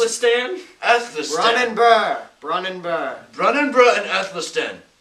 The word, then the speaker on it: Brunanburh: He accompanied them on multiple occasions, including the famous battle of Brunabruch. I believe... Brunabruch? Yes. Brunabruch? Go. Where the knights assaulted the Saxon king. How's that pronounced? Athelstan? Athelstan. Brunanburh.